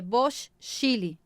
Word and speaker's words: Bocchile: e Bocchili, B-O-C, Chile. Chile, sabe aquele paizinho compridinho? Então, é Bosch Chile.